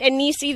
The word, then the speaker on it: Enisi: And did I say it right, Enisi, the Bleu Realm?